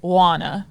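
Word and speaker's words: Joana: Well, I know how it's spelled, but she said she pronounced it Juana, right? So the O is not. Juana.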